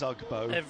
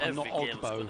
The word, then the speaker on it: Ugbo: I've double checked, and it is Ugbo, not Ogbo.